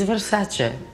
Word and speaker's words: Versace: It's Versace. What makes Versace unique?